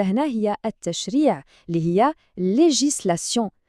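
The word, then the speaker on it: législation: هي التشريع اللي هي ليجيسلاسيون ركزوا معايا في المقاطع لي جيسلاسيون وهنا غادي نساليو المستوى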